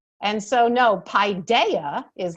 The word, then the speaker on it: paideia: The authentic Greek way of pronouncing is paideia, but very frequently in America, you will hear folks pronouncing it paideia. You can also hear another version of it, as Kevin and I spoke about, that we also like, is Paideia. So depends on where you put your, where you accent your syllable.